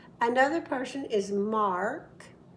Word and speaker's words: Mark: In America, we need to hear the R. So Mark is his name. Mark. I'm holding a piece of candy when I get to the R. Mark.